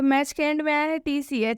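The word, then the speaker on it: match: हैं यहां पर च आएगा तो उसमें टीका उच्चारण नहीं होगा तो मैच इसलिए मैच मिट्टी का उच्चारण नहीं करेंगे मैच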